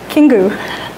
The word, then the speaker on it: Kingu: Kingu.